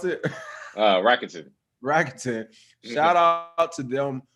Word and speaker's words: Rakuten: How do you pronounce it? Rakuten.